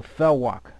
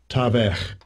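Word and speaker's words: תָּוֶךְ: Strong's H 8432, Tavech, Tavech. See, it should be thawak, because there's no V in the Hebrew.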